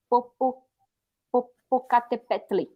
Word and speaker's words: Popocatépetl: Por exemplo, tem um vulcão que aqui chama Popocatépetl. Nossa. É muito difícil. O final é como tli, só que não tem aí, é TL.